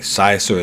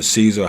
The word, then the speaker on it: Siser: All right, Siser or Caesar, however you want to pronounce it.